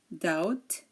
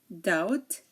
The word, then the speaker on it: doubt: pronounce the b um there are a few words in which the B is silent before the T okay so here we have words and um the t comes after the B and um these are silent we do not pronounce the b in these words when the t comes after the B such as DT doubt subtle dter doubtful and subtly subtly okay again dep